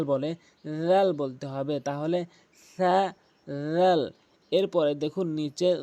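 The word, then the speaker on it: ث: প্রথমটি হচ্ছে সা, অধিকাংশ লোক সা বলে, এই সাকে সিন বলে থাকে, এই জন্য সা উচ্চারণ করতে হবে। সা জিহ্বার আগা দাঁতের আগার সঙ্গে মিলিত করে ৩টি হরফ উচ্চারণ করতে হয়।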